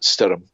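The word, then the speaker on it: Stoirm: It's Stoyrm, and apparently that is pronounced Stirrum. And that's Gaelic for storm.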